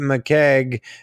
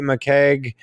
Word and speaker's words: McCaigue: line with the complete mikeg creature compendium vol 1 yeah yeah basically my last name just sounds like a keg or like an Irish beer type of thing okay awesome yeah so